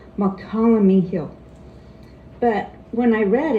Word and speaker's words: Mokelumne: want to say it, but it's really Mokelumne, like Tuolumne. It's spelled like Tuolumne, and I know Tuolumne, but Mokelumne, it's hard for me to say that.